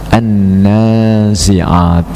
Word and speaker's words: An-Nazi'at: Bacanya panjang ya, surah An-Nazi'at.